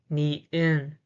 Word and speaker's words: 니은: The pronunciation is na. The name is 니은, 니은, 니은, 니은, 니은.